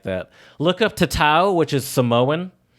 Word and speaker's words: tatau: Look up tatau, which is Samoan. The word tattoo is believed to come from the Samoan word tatau, brought by the first Europeans who mispronounced the Samoan word when they visited the islands inhabited by the Polynesians.